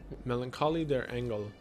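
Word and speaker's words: Melancholie der Engel: have to talk about that one don't I Melancholy their angle which I took German class yeah that's how it's pronounced which translates to The Melancholy of angels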